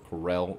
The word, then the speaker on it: Corel: So, that being said, we're going to continue up Mount Corel, or Corel as they pronounce it, and see what the story holds.